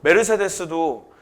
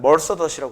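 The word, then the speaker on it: Mercedes: 그리고 메르세데스도 거기 그 나라에서 메르세데스라고 불러. 근데 미국에서는 머더스라고 그래. Merc더스 이렇게 부른대.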